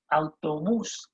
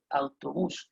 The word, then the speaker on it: autobús: Now, a bus, it's called el autobús. El autobús. You see the accent on the U there, it means there's going to be a stress on that U. El autobús.